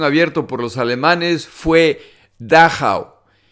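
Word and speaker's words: Dachau: por los alemanes fue dao se deletrea d a c a u y creo que se pronuncia así este campo de concentración se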